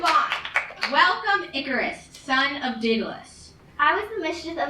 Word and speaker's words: Daedalus: Starts with a D, ends with a S, and rhymes with Aeschylus, sort of. Who? Wait, no, Pegasus. Rhymes with Pegasus. No idea. I have no idea. Daedalus, it's Daedalus.